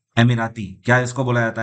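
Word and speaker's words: Emirates: वैसे ज्यादातर लोग हमारे देश में इसको एमिरेट्स बोलते हैं, लेकिन इसका सही प्रोनाउंसिएशन है एमिराती।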